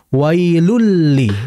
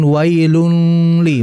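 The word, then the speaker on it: وَيْلٌ لِّ: pertama kedua secara sempurna wailulli langsung kan bukan wailun Li bukan makanya Seperti contohnya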